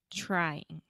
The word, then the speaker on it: trying: English trying right so you start off with the CH sound just like Chiago right and the same way that you say three and then you have yeah but it's the TR and not the DH yeah tree oh tree